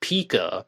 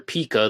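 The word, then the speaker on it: Peca: is Walter Recca, and his name was originally spelled P-E-C-A, but I heard from Darren Schaefer on the Cooper Vortex that was actually pronounced Pika, Walter Pika, then the spelling was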